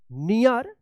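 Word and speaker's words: knee: जी hurting his नी देखिए यहां पे के एन डबल ई तो किनी मत पढ़िएगा इसको क्या पढ़ा जाएगा नी पढ़े जाएगा के एन से पहले के है तो के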